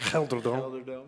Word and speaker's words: GelreDome: That's how you say it. Gelderdome. Yeah, that's better. It's better than the first one.